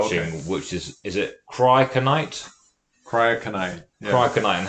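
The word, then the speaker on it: cryoconite: even though I'm going to get you to spell it to the students Oh, watching, okay. which is it Cryokinite?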